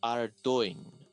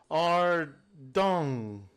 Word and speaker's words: Ardoin: Oh, and Albert pronounces it correctly and goes Ardoin, for Hobrock's sake. Habrak listens to him and goes, Ardung.